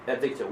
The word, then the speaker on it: addicted: ببین کلمه‌ای که با A شروع میشه هیچ وقت تلفظ نکنین صدا بین آ و ا هست addicted کنین این وسط رو بگیرین addicted Was your husband addicted?